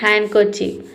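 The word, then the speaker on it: handkerchief: ठीक है, तो बीच में आपको जो सिलेबल दिखेगा एन डी दिखेगा, यहाँ पे भी हम डी को प्रोनाउंस नहीं करते हैं।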